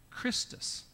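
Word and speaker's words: Chrestus: In that Latin, it was spelled C-H-R-E-S-T-U-S. And there's some confusion, but the name was most likely pronounced in that time, Christus, which is what? The Latin name for Christ.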